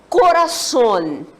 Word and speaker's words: corazón: vinha só Corazón Corazón Qual é a sílaba forte dessa palavra a Sony corra som então a gente já sabe se pronunciar de novo ela toda junto tinha ele que vai acontecer mas havemos tranquilamente que vamos pronunciar o sono um pouquinho mais forte né Corazón Corazón tudo bem temos uma próxima